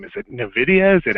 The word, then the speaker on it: Nvidia: it's it's pretty cool but Nvidia if it ever comes up is NVIDIA one word it's kind of strangely pronounced Nvidia and and you're not